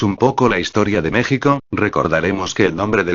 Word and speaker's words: México: Y México no debe pronunciar con J, sino con SH, México.